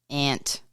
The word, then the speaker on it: aunt: Ant. Ant. Sounds like you're talking about the little insect, an ant.